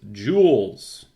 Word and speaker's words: joule: about jewels and class this is spelled J o u L e a jewel okay that's how you